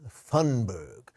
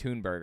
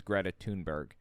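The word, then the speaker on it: Thunberg: control anybody and also I think it's pronounced tunberg I looked this up I believe her name is Greta tunberg why does he think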